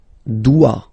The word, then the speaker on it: dois: Je dois. Okay, remember final S is not pronounced. Je dois. OI, when you combine the two, you get the sound wa wa wa.